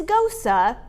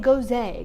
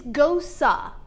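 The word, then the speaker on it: Gose: my cicerone and it's ghosa i don't know why they spell it the way they do but it's pronounced go sa go sup so there's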